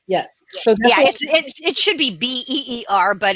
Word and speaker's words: Bier: And then Bier, B-I-E-R. The J Beer.